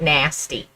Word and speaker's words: NACI: People think that these guys, I am voting on pronouncing it nasty. Yes, I know that there's no ST in it, but it doesn't matter.